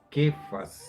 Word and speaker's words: Cefas: Acerca de Cefas tenemos esta información. Perdón. Se pronuncia Kefas en inglés y es una pronunciación muy parecida a la que hacen los judíos, pero dice que es de origen caldeo.